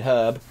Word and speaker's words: herb: room there's a red herb that's right americans you pronounce the h in the word herb i'm gonna take these